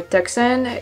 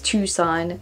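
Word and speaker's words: Tucson: going to try it tuon for tuxen you probably said before yeah it's tuon Marines oh Marines yeah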